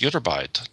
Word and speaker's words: Ytterbite: I don't know how to pronounce it, but Ytterbite? You pronounced it correctly. It's Ytterbite, discovered at a quarry in the village of Ytterby, Sweden.